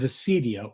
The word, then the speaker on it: acedia: and final overthrow of Acedia or Acadia itself. We'll talk about Acedia or Acadia, and just I'll call it Acadia because that's the way it's pronounced in Greek, but This is one